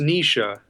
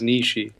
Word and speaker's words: Nietzsche: and Frederick nishi quotes I always thought it was pronounced nisha I guess that's like the that sound seemed to me like the German pronunciation but everybody says nishi I wouldn't even begin